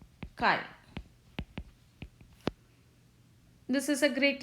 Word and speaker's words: chi: and a square but we read this as chi this is a great letter kai but we have we